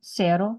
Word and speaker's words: cero: Cero, the Z makes an S noise, but C-E, C-I.